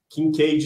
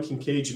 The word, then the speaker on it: Kincaid: Kincaid se escreve com K e D de dado mudo no final.